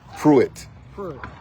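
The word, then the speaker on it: Preitt: t t okay sounds like fre but it's pronounced puit okay puit somebody DM me puit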